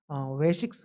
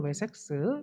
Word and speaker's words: 웨섹스: 그 왕국을 웨식스 왕국이라고도 하는데 웨식스 혹은 웨섹스 이렇게 발음이 됩니다.